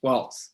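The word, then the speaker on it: Walz: us uh representative uh walls from and i pronouncing that correctly tommy yes but that's just like the dance okay waltz perfect uh from barry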